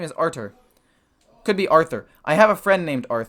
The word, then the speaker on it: Artur: this guy's name is artur could be arthur i have a friend named arthur and it's spelled a r t u r but the t is pronounced with still the th sound you know like the